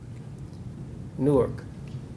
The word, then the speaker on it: Newark: Newark, as it's pronounced by the natives of this city, but we can't set aside the importance of that.